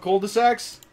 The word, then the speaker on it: cul-de-sac: You want cul-de-sacs? I'll make you cul-de-sacs. I know Italian. Babadabibi. Boobadababi. Here's your fucking cul-de-sac. Now you're saying it right. Fucking cul-de-sac. Cul-de-sac. Cul-de-sac. There's a D in there.